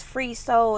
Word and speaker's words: FR33SOL: It's Free Soul. It's spelled FR33SOL.